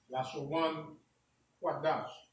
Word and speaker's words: Lashawan Qadash: So it's Lashawan, right? Lashawan Qadash. Right? This is how it is sounded or pronounced in English, and it really means holy tongue.